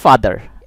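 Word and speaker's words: father: লক্ষ্য করুন, আমি এই পেজে যে ওয়ার্ডসগুলো দিচ্ছি, এই প্রথম ওয়ার্ডটি হলো ফাদার। এই শব্দে এই লেটার থেকে আমরা যে উচ্চারণ পাচ্ছি সেটা হলো আ, অর্থাৎ ফাদা।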